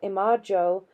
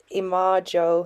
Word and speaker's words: imago: Hence, in practical psychology, we should be well advised to differentiate the image or imago of a man quite differently from his real existence.